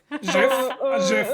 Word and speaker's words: GIF: Jiff, I'm dying on that hill. Jiff.